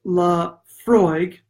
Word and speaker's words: Laphroaig: doing the way to do it eylem Laphroaig pronounced la Freud if you don't have to pronounce now if